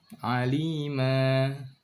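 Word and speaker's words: عَلِيمًا: Basira, alima, sami'a. Jangan ditahan kayak ada hamzah di belakangnya.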